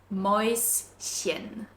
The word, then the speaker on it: Mäuschen: And this one is a little bit difficult actually to pronounce as you have an S sound followed immediately by the chen sound. Mäuschen. Mäuschen.